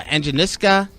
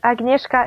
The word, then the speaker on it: Agnieszka: We have Invicta Star uh uh Anisca Nijovich, which I'm going to need your help. An uh Anka, how do you say your name properly? It's Agneska.